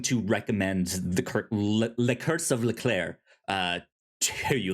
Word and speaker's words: Leclerc: Have you seen the episode in season 7 entitled "Le Curse of Leclerc"? All about Charles Yes, Leclerc, yes, in Monaco. a a guy whose name is pronounced much quicker than you'd think.